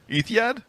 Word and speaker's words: Etihad: Am I saying that? Etihad. Keep trying, buddy. Etihad Arena. Etihad Arena in Abu Dhabi. Etihad. Etihad? I think I said it right. Yep, there we go.